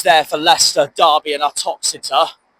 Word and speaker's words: Uttoxeter: You got signs there for Leicester, Derby and Uttoxeter. That rhymes with Exeter, weirdly.